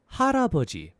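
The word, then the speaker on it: 할아버지: for today we've got Grandpa which is haraboji so a little slower that G foreign so a little faster that's haraboji haraboji so I hope that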